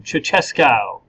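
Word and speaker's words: Ceaușescu: along with East Germany I guess uh Nikolai chesco go ahead everybody say his name chesca good um he is the head of the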